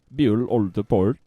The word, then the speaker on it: Bjuul Ulderport: and I just tell him is finished name butyl old the port that's how you pronounce it she still run this by offer